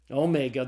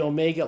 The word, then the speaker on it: omega: the Greek alphabet the Omega looks like a W but it's not it's a long old class file so the Omega is pronounced as a long Oh sound as in the English word tone okay all right well